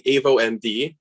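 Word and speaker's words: AvoMD: uh i'll be presenting avo md is the way to pronounce it and we're the next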